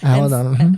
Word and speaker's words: Al-Anon: Al-Anon.